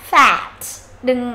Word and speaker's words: fat: Âm e bẹt nhá, fat. Đừng đọc là fat fat nhá. Âm này nó là e bẹt, tức là nó khoảng giữa âm a và âm e.